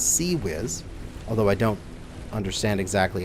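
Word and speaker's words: CIWS: how to pronounce this not swizz or anything like that it's seawiz although i don't understand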